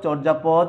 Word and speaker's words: চর্যাপদ: তুমি খেয়াল করো, বানানে জফলা বর্জন করেছে বটে, কিন্তু উচ্চারণে কিন্তু জফলার কারণে এখানে জফলা উচ্চারণে রয়ে গেছে এখনো, এই জন্যে উকারান্ত বা ও এর মতো উচ্চারিত হয়েছে।